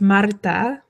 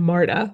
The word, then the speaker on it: Marta: Well, yeah, the pronunciation, the way we say it in English is wrong. It's Marta, which is different than Marta.